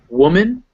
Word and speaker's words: woman: particularly pesky one because woman and women the ma the m-a-n and the m-e-n are both pronounced men in these words but in the first one it's woo and second one it's wit so woman women in the first one it's that it's that relaxed u sound and the second